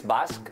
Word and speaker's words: Basque: Basque. In English, it's Basque.